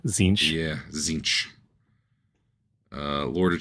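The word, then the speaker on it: Tzeentch: figure out these pronunciations cinch t z n t c h it's just a z sound zinch yeah zinch uh Lord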